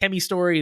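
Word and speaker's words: Chemy×Story: apparently it's just pronounced kemi Story the x is silent it's just there to be cool like xylophone yeah exactly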